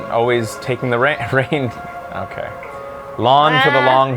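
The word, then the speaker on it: Reynn: Or Rin, always taking the rain. Okay. Lon for the long haul. Well, that lets me know how they're pronounced again. Yeah. Lon for the long haul, or Rain always taking the reins.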